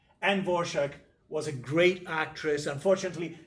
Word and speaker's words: Dvorak: She picked this pseudonym and then she told the journalist how it should be pronounced. And according to her, it should be pronounced Dvorak. Anne Dvorak was a great actress.